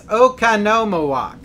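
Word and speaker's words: Oconomowoc: So, and let's see, Jeepers Creeper says it's Okanomowoc. Okanomowoc. Hey, I'm terrible at pronouncing things anyway, so there you go.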